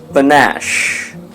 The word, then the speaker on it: panache: of the day is vinash the stress is on the second syllable which means the second syllable would sound louder than the first one let us never